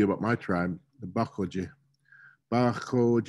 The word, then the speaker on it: Baxoje: Baxoje is how you say it, like an Indian, like in German, ach is what that sound is.